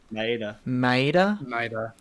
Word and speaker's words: Maeda: Maeda? Maeda. All right. Yeah. So Maeda's happy that all his friends came over to finally celebrate his birthday, because in the previous episode they always using Maeda's house for fights and all that stuff.